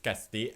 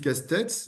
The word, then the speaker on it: Castex: Je pense que nous avons en Lucie Castex, je prononce Castex parce que si vous voulez, c'est un nom de famille béarnais. Moi, je suis moi-même issu du Béarn et donc on prononce toutes les lettres.